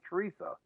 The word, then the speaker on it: Teresa: It's about Teresa, whatever you want to call her, Teresita. Yeah, Teresita. Well, it's actually pronounced Teresa. Yeah, well, they might pronounce different, but spelled Teresa.